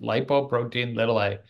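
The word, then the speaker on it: lipoprotein(a): you can see that it's lipoprotein ltil that's actually how you pronounce it lipoprotein ltil a or LP ltil a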